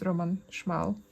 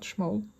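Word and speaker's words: Roman Szmal: And Roman Schmal light blue. And I'm pretty sure it's pronounced Roman Schmal, not Schmol. That's how I'd read it naturally in Polish.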